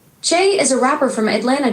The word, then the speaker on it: Che: I don't know how to say it, but it's spelled C H E. Chay is a rapper from Atlanta, Georgia.